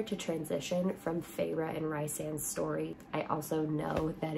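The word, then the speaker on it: Rhysand: great palette cleanser to transition from pharaoh and rice and story I also know that it's pronounced resand and that just doesn't make sense in my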